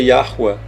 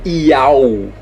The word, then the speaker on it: Yahweh: A pronúncia disso é Yahweh. Não é Iau.